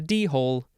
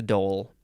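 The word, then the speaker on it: dhole: a doll looks like it's not a d-hole it's a doll the next word Doty d-h-o-t-i noun from 1612.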